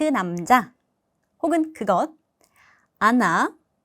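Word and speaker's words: она: 자, 강세 때문에 앞에 단어는 아 발음이 납니다. 아나, 아노.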